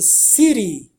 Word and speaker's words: city: E a palavra é essa city. City, justamente. Bom, ele pronounced as a short very soft D.